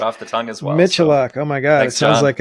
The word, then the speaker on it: Michaluk: Today on the show, we have CrackBerry Kevin Michaluk. He doesn't like to use that pronunciation. Michaluk, right? Michaluk. Raised Canadian, we say Michaluk.